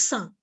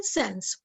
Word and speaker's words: sans: word it means without in french the word is pronounced as sun and uh otherwise in british english or american english you can say sans so sans teeth sand